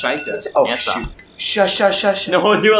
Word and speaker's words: Sheikah: It's pronounced Sheikah.